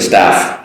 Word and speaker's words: staff: Staff, a person working in the group, and stuff, your things.